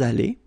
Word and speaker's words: allés: Nous sommes allés. You don't pronounce it.